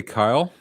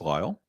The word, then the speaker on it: Lyle: Jeremy green says hey Kyle Jeremy green my name is Lyle oh I will thank you to observe the proper pronunciation but I'll I'll humor